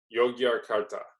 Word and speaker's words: Yogyakarta: town in Indonesia that I have difficulty saying yah-yah-yah-yah kurta so I looked up a pronunciation website so I'm not sure if this sound will come through but let's try this is how it's supposed to be pronounced you yogyakarta I'm saying that as close as I can so in any event